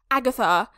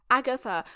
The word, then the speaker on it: Agatha: Say it with your whole chest. Agatha. Agatha. Three syllables.